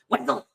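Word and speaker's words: Wessell: I think I made like a cut where it was like, "Hi, I'm Wazell," and then we slowed it down to Wazell, and then I bass boosted Wessel. It's valid though. It only took us 10, 15 years to discover the mystery thanks to the Duke of Wesselton. So thank you for that. No, almost every single guest we've had on since has said Wessel.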